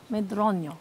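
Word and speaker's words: Medronho: How do you pronounce it? Medronio.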